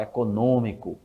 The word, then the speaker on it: econômico: o acento mas a a tonicidade ainda recai na antepenúltima sílaba isso acontece com a palavra econômico econômico aqui no Brasil a gente fala econômico em Portugal se fala